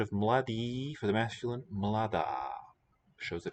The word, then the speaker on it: mladá: Okay, and note that this a is long for agreement, whereas the a at the end of the word for woman is short.